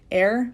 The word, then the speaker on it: Eir: a lot for like I think it's pronounced air but it looks like ear and she's like the